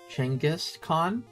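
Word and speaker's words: Genghis Khan: Another streamer who is a history teacher was talking about Genghaskhan said the technical pronunciation is Changis Changis Khan.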